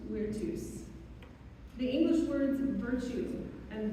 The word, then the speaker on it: virtus: The Latin word for courage is spelled virtus, but because in classical Latin V sounds like W, the word is pronounced virtus.